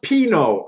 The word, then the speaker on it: pinot: it up with the button ups oh it's pronounced pino i'll try to remember that pinot oh oh jared you watch that tournament i